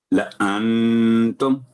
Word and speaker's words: لَأَنْتُمْ: لَأَنْتُمْ، الف سائلنٹ ہو گیا، لا نہیں پڑھا جائے گا. لَأَنْتُمْ، تو وقف کرتے وقت بھی کوئی تبدیلی نہیں ہوگی کیونکہ میم پر جزم ہے. لَأَنْتُمْ.